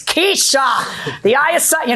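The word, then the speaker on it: Keshia: It's Keisha, the I is silent.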